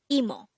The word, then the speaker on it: 이모: angle word number 145 emo e mo this is pronounced as a two syllable word first syllable is e the second syllable is Mo pronounce it with me